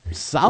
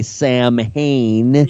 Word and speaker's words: Samhain: Samhain. It's the way it's pronounced in Celtic. We would say Samhain.